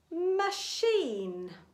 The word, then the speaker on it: machine: And the final alternative pronunciation for the grapheme CH is sh. Let's read some words. Sh-f, chef, the name of a woman or a girl. Charlotte, machine, chalet.